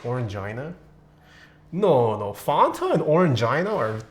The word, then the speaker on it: Orangina: Fanta in the EU is more like Orangina.